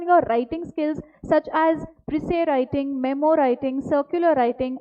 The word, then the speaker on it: précis: it is called as précis. Okay, this word has been derived from a French word. Okay, so S is silent over here and we pronounce it as précis.